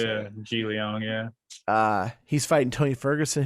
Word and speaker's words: Jingliang: Jingliang is how you say Yeah, it. Ji Liang, yeah.